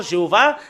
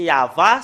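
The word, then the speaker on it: יהוה: ils ont euh inventé ce nom Jéhovah c'est clair que c'est faux parce que ça ça n'a pas été prononcé par les Hébreux c'est pas une langue Hébreux mais c'est quelque chose qu'ils ont inventé et nous voyons très bien que c'est vraiment faux ce faux dieu bah c'est il y a vraiment un grand trucage le nom du père yayava au moins l'an 2000 nous voyons très bien que c'est yava son nom c'est vraiment très très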